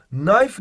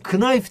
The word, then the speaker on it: knife: bunu bir şekilde yapabiliyorsun Knife nedir biliyor musun Knife diye Okumuyor mu yok Bak İngilizcede no mesela KN diye okumaz no diye okunur aynı şekilde Knife da Ken okumadan Eee bıçak bıçak yok spoon